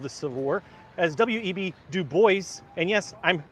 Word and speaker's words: Du Bois: only perspective of the civil war as web do boys and yes i'm pronouncing that correctly comment people you don't have to comment on my pronunciation it's pronounced dubois that's how do boys pronounce it every time i make a video about